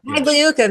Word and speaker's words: Pagliuca: I never pronounce his last name right, so you can do it for me. Pagliuca, man.